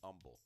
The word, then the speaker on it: humble: You know, it falls right into that same lane with being humble, or as they say down south, being humble, because they don't pronounce the H.